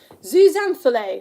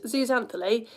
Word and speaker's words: Zooxanthellae: actually, and it's called, you ready for this pronunciation? Zooxanthellae, that's what I'm calling it. Other pronunciations are available.